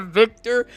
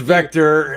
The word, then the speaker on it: Vector: tried not to laugh you said Victor when it's it's I okay as I said up vector vector it's Vector I get this not now